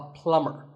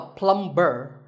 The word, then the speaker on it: plumber: pipes at your house you call him a plumber not a plumb burn the B is silent so plumber in fact